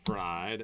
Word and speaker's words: Fried: Dobbins, Fried, and the John Hancock. His name, it's actually pronounced Freed, though, isn't it?